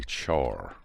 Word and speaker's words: char: a single character the type is called a char that's how it's pronounced and of course it's short for character